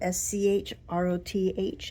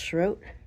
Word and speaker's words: Shroth: The name Schro on it. S H R O T H. It looks like Shroth, but it's pronounced Schro.